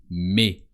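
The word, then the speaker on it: mais: as one word visita the word for but is me with a silent s me before is a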